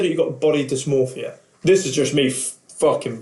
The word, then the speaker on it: dysmorphia: people think of body dysphoria. Dysmorphia. Yeah. I said it right the first time, and then my brain then went, you didn't say that right.